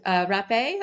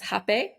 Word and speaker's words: rapé: that in there and the last one is rape also pronounced hap um because it's spelled r a p it has an accent over the e but that looks like